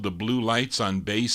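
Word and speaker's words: Bleu Lights: Here are the Blue Lights, B-L-E-U it's spelled, the Blue Lights on Bass Sound.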